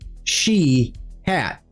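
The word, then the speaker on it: Shiath: The name Sheihot is spelled sh H I A T H but pronounced She hat.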